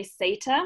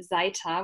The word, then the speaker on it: Seita: you gazelle so um i don't think there's like a correct way of pronouncing my surname but i usually say sata because it's italian um in german it would be zeita which sounds a bit